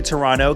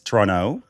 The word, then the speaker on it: Toronto: Toronto. You don't pronounce the second T. I don't think so. We'll find. No, I don't think so. Because it's not Toronto.